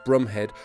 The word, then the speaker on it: Bromhead: Bromhead, whose name is actually pronounced Brumhead, has already ordered the